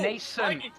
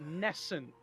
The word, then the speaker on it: nascent: Nascent. Nascent. Sorry, I swear to God, no warrior I've encountered has been able to pronounce it properly. No one cares. Like, I found one of the warriors in RFC calls it Nescent.